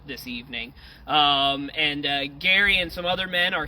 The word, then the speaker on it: Gerry: Uh but his name wasn't pronounced Jerry. It was actually pronounced Gary.